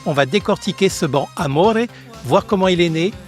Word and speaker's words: Amore: On dit amore et non amor. C'est de l'italien et c'est masculin. Et dans cette langue, le e se prononce et.